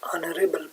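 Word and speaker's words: honorable: यहाँ आप देख सकते हैं एन ऑनरेबल पर्सन, यहाँ जो है कंसोनेंट है हमारे पास, लिखने में आया है लेकिन पढ़ने में नहीं आता, तो एच के बाद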